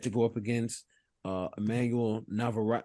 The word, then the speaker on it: Navarrete: After that, the other major fight that we had going on was, can you pronounce the name for me one more time, TJ? Navarrete.